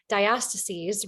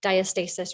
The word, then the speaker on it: diastasis: I love it yeah my specialty is diastases recti or diastasis recti it gets pronounced different ways but I'm from the West so we say diastases okay uh and that